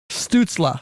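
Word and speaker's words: Stützle: Stutzla.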